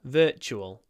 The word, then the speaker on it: virtual: Anyway, pronunciation, remember, it's the forward sound, and then chul, with a ch, virtual reality.